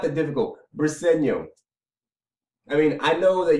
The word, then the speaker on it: Briseño: And Eagle Speed, it's Briseño. I just made a video the other day about how to pronounce the guy's name. This is not that difficult. It's not that difficult. Briseño.